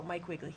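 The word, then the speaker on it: Mike Wiegele: Pronounce this right. Oh, Mike Wiggley.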